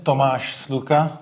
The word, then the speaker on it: Tomas Sluka: My name is Tomas Sluka. That's how it is correctly pronounced.